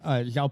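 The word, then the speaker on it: João: Is it actually Zhao? You know how I know it's actually Zhao? Because half of Brazil is named Zhao. We heard that. Also true, but Zhao Paulo, there are like 17 of them.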